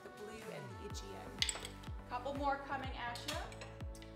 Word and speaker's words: Aegean: We have the blue and the, I already forgot how to pronounce it, Aegean.